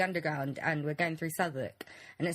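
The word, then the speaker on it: Southwark: in London all right it's called souk okay but it's spelled Sou South walk south walk I hate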